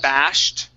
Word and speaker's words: bashed: The ED makes a T here.